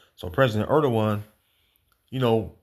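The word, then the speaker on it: Erdoğan: of Turkey is uh tayip erdoan that's how they pronounce his name if i't mistaken so president erdan you know right when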